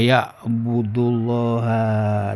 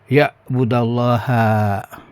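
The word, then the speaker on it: يعبدَ الله: Wa ya'budullaha, dan beribadahlah hanya kepada Allah. Oh ini bacanya fathah ya, karena ada an di awalnya, ada an. Ya budallaha, beribadalah engkau kepada Allah.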